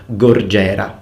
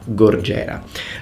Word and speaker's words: gorgera: Of course you need to roll your R in Italian, but it's gorgera, gorgera.